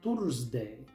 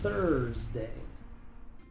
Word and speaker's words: Thursday: Muchos pronuncian esta palabra Tursday, pero aquí la th se pronuncia con la lengua entre los dientes. La U es muda antes de la r. Así que esta palabra se pronuncia Thursday.